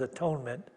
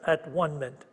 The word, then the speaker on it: atonement: the at one minute she doesn't pronounce that as atonement that's at one minute here in this world